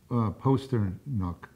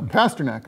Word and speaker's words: Pasternak: and how was that pronounced again? Posternuck. I think it's Pasternak. Okay, fine. Do it your way. Oh, all right. Well, you know, we can clean it up in post. In Posternak. No, Pasternak.